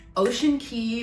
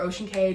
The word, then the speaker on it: Ocean Cay: But Ocean Key or Ocean Cay, depending on how you say it, I adore her.